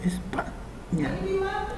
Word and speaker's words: España: Entonces ahí yo tengo una palabra que no es aguda, es grave, porque se acentúa en la penúltima sílaba. En este caso España.